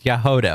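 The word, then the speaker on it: Jahoda: Apparently that's how it's pronounced, okay? I didn't make the language rules. It's Yahoda, okay? Yahoda.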